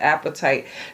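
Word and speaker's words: apatite: card the appetite and it is pronounced just like that appetite this is about acceptance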